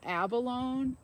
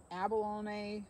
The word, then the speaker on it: abalone: to some of you awesome but it's uh Abalone abalone it's like an inside of a shell